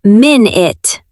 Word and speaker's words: minute: How do we pronounce that? We say minit.